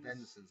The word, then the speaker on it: Svensson: Svensson, I guess the S is silent.